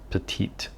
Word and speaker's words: Petit: speaking about the pilot petite one or petit one um depending on whether or not you like the french pronunciation it's a fairly cheap